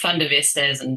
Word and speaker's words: Van der Westhuizen: It's pronounced Van der Westhuizen, but you said it in the North American way.